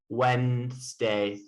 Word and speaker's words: Wednesday: from thor thursday right so wednesday is spelled strange like we say it like wednesday like w-e-n-d-s-d-a-y but it's spelled in this way anyway you have a